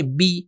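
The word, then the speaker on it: بِ: پہلا حرف ہے بے, کہ صحیح تلفظ اس کا ہے بی. یہ بھی ہمیں سیکھنا ہوگا کہ جب یہ زیر آتا ہے تو عربی میں صحیح تلفظ ہو جاتا ہے بی, بسم اللہ, جو صحیح تلفظ ہے.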